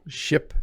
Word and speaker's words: ship: Ship has a short vowel. Ship, it's a very fast word, whereas sheep has a very long vowel.